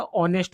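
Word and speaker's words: honest: ऑनेस्ट का एच ऑनेस्ट नहीं होता। ऑनेस्ट होता है।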